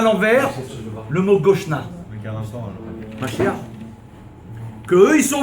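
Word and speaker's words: גשנה: Parce qu'il faut dire Goshna avec un E pour dire quand tu dis l'article, la ville de Goshen, Goshna.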